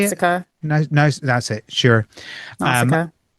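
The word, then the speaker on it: Nausicaä: Nice, Narcissa? Is that how you say it? Nausicaa.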